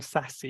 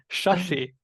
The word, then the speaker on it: Shashi: there's no Indian name sassy you should know that it is Shashi the name is Shashi and the three sapphires so Shashi is how this name should be pronounced obviously it's spelled in